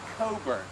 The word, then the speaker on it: Cockburn: had 670 kman now cockburn in English it was pronounced Coburn for obvious reasons okay but he was